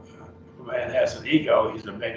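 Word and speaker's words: ἐγώ: And so if a man has an ego, he's a big I. He thinks he's it. And so that's ego. Notice the accent is on the omega.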